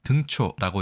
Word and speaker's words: 등초: 도금부터 먼저 살펴볼까요?이 이 한자어 우리가 등초라고 읽습니다.